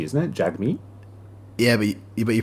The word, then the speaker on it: Jagmeet: j g m e e t isn't it jagmeet yeah but you pronounce it oh do you oh i'm an